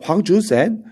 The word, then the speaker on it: 황준헌: 황준헌. 이 사람을 중국어로 읽으면 황준센 이라고 읽어요.